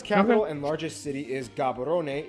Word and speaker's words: Gaborone: Botswana's capital and largest city is Gaborone. If you speak Setswana, it's pronounced Gaborone, located close to the border of South Africa, and the country is divided into 9 districts.